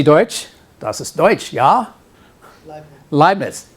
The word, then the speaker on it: Leibniz: It's not Leibniz. Yeah, sprechen Sie Deutsch? Das ist Deutsch, ja? Leibniz. EI is always I in German, yeah?